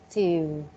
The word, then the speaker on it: field: Now, I want you to produce the D sound at the end. Rice field, and then it's an Ah, L.